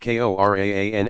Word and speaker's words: Quran: his soul miracle was the current pronounced kor AAA hereafter transliterated as Quran the Muslim Sacred Scripture